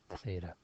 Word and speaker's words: theta: Okay, so that's how it's said, theta.